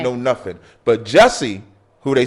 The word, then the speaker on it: Jussie: Jussie?